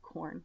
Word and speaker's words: Quorn: Also in England, they happen to have a really amazing product called Quorn, spelled with a Q, that I love, and it is a vegan.